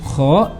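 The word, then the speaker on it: خ: lalu untuk makhorijul huruf Kho itu harus ada getarannya ya Kho tidak boleh Kho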